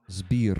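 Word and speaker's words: Збір: This r is hard to pronounce for Americans, right? Zbir, zbir.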